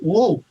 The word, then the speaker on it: Ng: He pronounced it woo. It was NG, and he pronounced it woo? Yes. There is an explanation in the various Chinese dialects. Okay. NG and woo use the same ideogram.